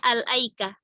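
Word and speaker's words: الأيكة: Sama riwayat Hamzah dan Kisai itu dibacanya al-aikah, bi at-ta'rifiyah qabla al-hamzah. Jadi dibaca al. Jadi kalau ada pertanyaan di surat Asy-Syu'ara sama Shad, al-aikah dibacanya laikah atau al-aikah?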